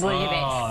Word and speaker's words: bouillabaisse: Okay, there's no L in it. Bouillabaisse. Bouillabaisse.